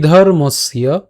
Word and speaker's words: ধর্মস্য: এখন এই যে জফলা আছে, জফলার উচ্চারণটা আমরা কার মতো করি? ইয়র মতো করি। তাই উচ্চারণটা কেমন হবে? ধর্মস্য, ধর্মস্য।